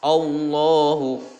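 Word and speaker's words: الله: maka ini dibaca tafkhim tafkhim adalah menebalkan bunyi huruf ketika diucapkan maka penuhlah mulut oleh gemanya huruf bergema suaranya allohu allohu nah seperti itu cara membaca tafkhim selanjutnya di sini ada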